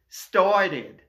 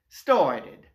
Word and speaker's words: started: anglais, on va dire started. Donc, je répète, la première règle, si l'infinitif se termine en D ou T, comme dans add, mais dans ce cas-là, la terminaison ED se prononce id. Added. Started.